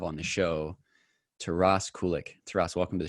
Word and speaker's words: Kulyk: to finally have on the show to ross kulick to ross welcome to the show man hey